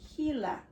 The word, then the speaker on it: Gila: It starts with the letter G, but it's pronounced Gila.